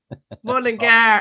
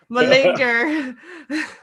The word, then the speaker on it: Mullingar: So when you finally hear Mullingar pronounced Mullingar and not Mullinger.